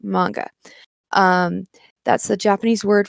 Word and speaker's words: manga: coined in japanese so it should be pronounced the way it was coined in the original language yes i am curious